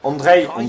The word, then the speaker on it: Andrej: Andrej, excusez-moi, c'est Andrej qu'on dit. Le J se prononce I.